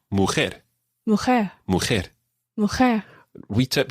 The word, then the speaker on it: mujer: We tip here, all words that end in R in Spanish, virtually all words that end in R in Spanish, are stressed on the final syllable. So it wouldn't be mujer, but mujer. Mujer.